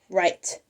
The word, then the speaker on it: write: that this is a the W is silent it starts with a w and it ends with an E they may also need to know that by heart too because the E is silent at the end too it sounds like we're saying R but there's a silent W and a silent E they would we would